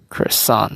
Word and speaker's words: croissant: There you go, croissant, right? Yes, I've heard people would say like croil and then sant, so then they kind